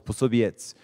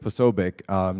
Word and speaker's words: Posobiec: And so he actually knew the Polish Posobiec is the proper way to say it. Oh, you know. So we usually go with Posobiec just because it's easier.